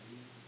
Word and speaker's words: nu: It's used, we typically give it the Greek symbol nu. So it's spelled that way, it's pronounced nu, W, but it looks like a sort of script B.